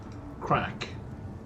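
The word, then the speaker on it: craic: So an Irish crack, spelled completely different but phonetically the same.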